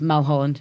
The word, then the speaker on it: Mulholland: whereas we say like 2 syllables, Mulholland.